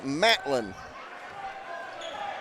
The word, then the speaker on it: Matlin: so 54:37 Maltin Matlin I've been calling a Moulton all night and I spelled it wrong on my sheet its Matlin so okay Matlin I